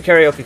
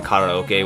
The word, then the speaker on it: karaoke: karaoke club is BAS I'm just going to call it karaoke because it's a lot easier to say than Koke which I know that's technically how it's pronounced but here in America we say karaoke so whatever um yeah